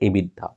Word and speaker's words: EBITDA: get something called ebitda it is spelled as e b i t d a e bit dot right pronounced as ebitda now if the firm